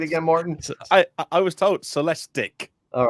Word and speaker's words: Celestiq: The Cadillac Celestiq. How do you say it again, Martin? I was told Celestiq.